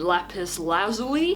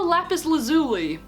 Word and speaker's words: lapis lazuli: include Jade opal and lapis lazuli or lapis lazuli depending on how you choose to pronounce it and we can't forget